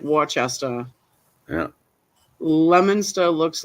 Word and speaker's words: Worcester: you're talking about like Worcester looks like Wester yeah lemoner looks like